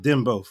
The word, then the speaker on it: dembow: was called uh them i think it's pronounced dim both what i know d-e-m-b-o-w and essentially chabarance had